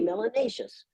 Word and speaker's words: melanatious: have more melanin you must be melanatious which rhymes with spacious and gracious and efficacious it's a very positive